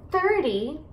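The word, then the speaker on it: thirty: Então, você vai enfatizar as sílabas no final de 13. 13. 13. Ok? E com 30, 30, você vai enfatizar as sílabas no começo da palavra.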